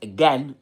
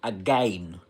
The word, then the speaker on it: again: Did you know that the word again can be pronounced as again or again? Again. But usually you will usually come across that pronunciation in the UK.